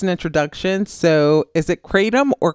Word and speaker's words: kratom: is it katum or cram uh there's several ways you can pronounce it I believe I think in Asia they say ketam but we are in America so we're going to say katum yeah just sayum so